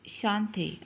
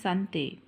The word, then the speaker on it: Sante: AA today is a Shante a Village Market day which happens once in a week why don't you take the children and show them the Sante actually it's pronounced Sante and buy vegetables and